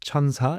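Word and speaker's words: 천사: But no, 1004 phonetically, when you say it, it's chansa in Korean. Chansa. And chansa, there you Okay. go. And chansa also means angel.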